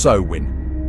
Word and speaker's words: Samhain: Samhain, pronounced Samhain, was the ancient Celtic festival marking the end of the harvest season and the start of the dark half of the year.